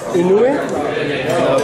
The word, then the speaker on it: Inoue: Is that how you pronounce his name? Inoue.